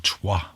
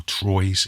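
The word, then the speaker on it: Troyes: it's true a while or tois or Troy's if you want to mispronounce it so essentially what you'll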